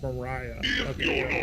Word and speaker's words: Mariah: Oh, it's pronounced Mariah.